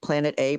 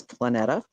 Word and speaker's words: Planeta: like it's really ftic it's Planet it means planet in every Latin language planeta but um basically um